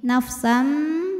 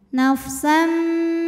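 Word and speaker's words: نَفْسًا: kemudian ada hukum iqlab karena ada tanwin fathah menghadapi huruf ba maka cara bacanya bunyi tanwin diganti bunyi mim nafsam disertai dengung nafsam B Gai ada harfulin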